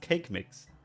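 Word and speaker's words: Kaqemeex: Kakimix? I have no idea how to pronounce that. Let's look that up. It's pronounced cake mix.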